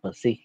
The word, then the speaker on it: psi: Thì ký hiệu của nó là psi, nên đọc là psi.